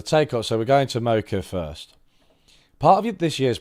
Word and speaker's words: Mokyr: I shouldn't have to pronounce other countries' names. Mokyr. No. Mokyr. Mokyr. Mokyr. It's Mokyr.